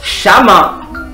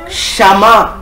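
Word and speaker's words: שמע: hébreu, c'est le mot chaman. C'est le mot chaman. ou chama, ça dépend de votre prononciation, c'est chama. Or, en hébreu, chama ce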